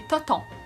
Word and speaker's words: téton: Des tétons, souvent ça va être prononcé des totons, même si ça s'écrit téton, ben c'est des seins.